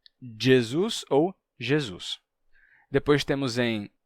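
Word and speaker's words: Gesù: se torna u Jesus em italiano a gente perde o s final e a pronúncia é Jesu só que em italiano eles eles decidiram que quando quando esse som aparecer a gente coloca uma letra g certo em Galego eles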